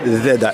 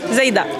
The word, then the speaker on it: Zeïda: Je suis avec Zeda. Est-ce que je le prononce bien? Zaida.